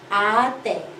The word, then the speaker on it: ate: So in English, you read this as ate, the past tense of eat. But in Filipino, we take it by syllable a and te. Ate.